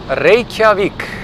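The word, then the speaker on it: Reykjavík: meters per second michaela how do i pronounce reykjavik reykjavik we roll our rs in yes john maybe maybe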